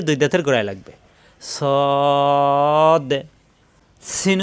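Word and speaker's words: س: দাঁতের গোড়ায় লাগবে সদ সিন উচ্চারণ জিহ্বা নিচের দাঁতের চাপ দিয়ে সিন সিন বাতাস বের হবে সিন যা জিহ্বা নিচের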